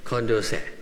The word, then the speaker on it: Condorcet: So, Wilson's favorite philosopher was the Marquis de, how do you say it, Condorcet. Where's the French-speaking people here? Condorcet.